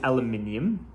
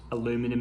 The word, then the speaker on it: aluminium: now the handle is aluminium aluminum em i hear you americans say it like that uh and it is